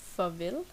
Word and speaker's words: farvel: And at last we've got goodbye, which is farvel or hej in Danish. Farvel. The A in farvel sounds like more like an O.